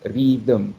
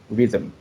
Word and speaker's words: rhythm: the first example uh when the nasals become syllables like rhythm and prism since it is not it does not exist in thai language they tend to act intrusive intrusive er so it becomes read them instead of rhythm right and then the